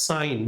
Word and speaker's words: sine: Sine function, इसको हम लिखने के वक्त लिखते हैं, this is written as sin and pronounced as sine, not sin.